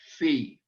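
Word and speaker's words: phi: one of those is fee and uh it'll be very simple to write with a circle or like an omicron with a line through it fee our f sound p h i fee and maybe it helps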